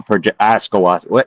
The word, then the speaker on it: ashwagandha: they call it, that's a part of astral ashwagandha.